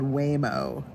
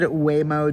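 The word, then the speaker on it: Waymo: But the other thing I've been seeing a lot of, we have a driverless thing over here called Whimo.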